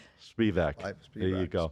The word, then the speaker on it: Spivack: See, she said it right. How come I didn't say her name right? I've had practice. Alyssa Spivak. Spivak. There you Spivak, go. Spivak.